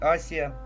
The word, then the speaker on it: Азия: А правильно говорить Асия. Вот на, по-моему, на англоязычных картах до сих пор на некоторых сохранено истинное название не Азия, а Азия.